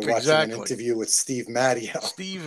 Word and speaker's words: Matteo: an interview with Steve mtio Steve mtio it rhymes with patio that's it exactly okay